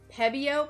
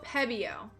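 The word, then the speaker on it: Pebeo: Pebbio. Pebbio. It's a P E BO. I like looked up how to pronounce it earlier and then I keep forgetting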